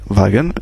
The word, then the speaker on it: Wagen: Man, Wagen, bien sûr on a vu que W se prononçait V, Wagen, etc.